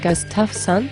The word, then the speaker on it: Gustafson: I think you mean Mrs. Gustafson. So her name is pronounced Mrs. Gustafson? Yes, it is Mrs. Gustafson.